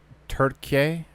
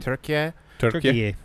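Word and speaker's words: Türkiye: Ukraine anybody brought up turkey I think is how it's pronounced oh yeah t-u-r-k-i-y-e I think right turkey turkey I think that's I I don't quote me but yeah in in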